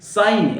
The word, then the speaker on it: sign: साइन, SIGN, साइन, साइन माने हस्ताक्षर करना। तो जी की जरूरत नहीं है आपको पढ़ने की, लिखने की जरूरत है, SIGN लिखना पड़ेगा पढ़ने के लिए।